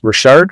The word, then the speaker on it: Richard: But of course, you know, my last name is Richard, pronounced Rashard. It's the French version coming from the Maritimes like yourself.